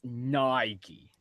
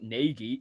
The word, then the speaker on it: Nike: It's Nike, not Nagi.